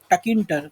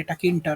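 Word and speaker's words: Tkinter: सी इसके लिए ना एक लाइब्रेरी अवेलेबल है पाइथन में, which is called टकिंटर, okay. T silent है और किंटर, ओके, टकिंटर, ओके।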